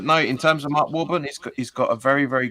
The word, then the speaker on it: Warburton: Warburton.